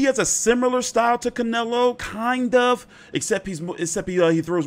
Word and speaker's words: Canelo: But he's never, obviously, fought, you know, someone like Canelo. Or Canelo.